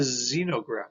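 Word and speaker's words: xenograft: put here but it's actually does have a z sound it's a xenograph so basically this does have a z sound typical z sound xenoverb okay a couple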